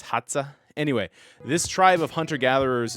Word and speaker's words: Hadza: around the hadza tribe I believe it's spelled h-a-d-z-a maybe it's hotza anyway this tribe of